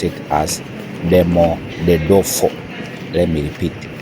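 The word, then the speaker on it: Domodedovo: It is very hard to pronounce it, but I had to pronounce it as Demodedefo. Let me repeat. Demo the dofo.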